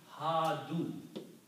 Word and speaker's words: Hadu: And if you want to make a plural of that, the rule is that you add a vav and an alif which is not recited. So this will become Hadu.